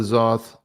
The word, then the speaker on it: Zoth: But it'll be interesting to keep up with Zoth. Rhymes with sloth.